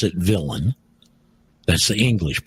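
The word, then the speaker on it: villein: to look up is a term villain we pronounce it villain that's the English pronunciation don't forget it was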